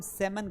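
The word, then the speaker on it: salmon: उसे हम सेमन कहते हैं। क्या बोलते हैं? सेमन। क्यों सेमन कहते हैं बेटा? क्योंकि एल यहां पर क्या है? साइलेंट है। तो इसे सेमन पढ़ा जाएगा।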